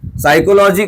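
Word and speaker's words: psychology: जैसे हम बहुत साइकोलॉजी की स्पेलिंग होती है तो उसका शुरू का P और ये सब क्या होता है, गायब ही होता है।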